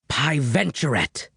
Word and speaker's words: Piventurate: It's not hard to pronounce. Pie, like, the delicious dessert. Ven, like vent, with no T. Chur, like churro, another delicious dessert, but with no O. And rat, like the rodent.